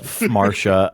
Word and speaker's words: Phmarsha: Yeah, it's Marsha. I'm sorry. That was so goofy of me. I'm sorry. For Marsha. Yeah. So. Oh no, the PH is silent. Just silent.